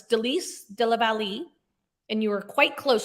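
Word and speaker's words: Délice de la Vallée: Why didn't you pronounce it properly? I think you did quite well myself. It's Delice de la Vallée, and you were quite close.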